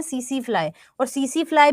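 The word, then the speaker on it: tsetse: पास में सीसी फ्लाई अब इसका टी साइलेंट होता है तो हम इसे बोलते हैं सीसी फ्लाई और सीसी फ्लाई भी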